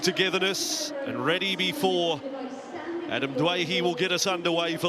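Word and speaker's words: Doueihi: for our Australian audience, Adam from the West Tigers now would like to be pronounced as Dwayhe, and I'm sure the Lebanese community are happy with that. We respected his wishes when he wanted to be known as Dewey, but now Dwayhe it is at the Cup.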